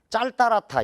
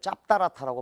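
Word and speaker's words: 짤따랗다: 그런데 두 번째 거 보면 짤따라타 이렇게 발음이 돼요. 이걸 짭따라타라고 발음하지 않습니다.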